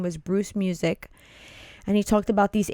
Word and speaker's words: Muzik: His name was Bruce Music. And he talked about these ACE markers. That's a cool name. Yeah. You know, it's funny. It's spelled Muzik, but it's still pronounced music.